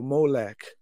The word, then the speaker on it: Molech: And so, what they did was they took the Ammonite word Melech and inserted the O there, playfully using the same O pronunciation as their word Boseth, which means shame. And so they were saying, you don't have a Melech, you have a Molech.